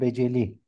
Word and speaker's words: Beceli: Kadir hocam ne diye telaffuz edelim? Hangisi doğrudur? Ne diyor dedin hocam? Belki dışında. Beceli veya Büceli. Beceli. Benim bildiğim Hüseyin bin Fazl el Beceli.